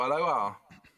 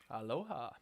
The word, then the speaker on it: aloha: Oh, aloha. Aloha. Aloha. That's how they say it in Hawaii.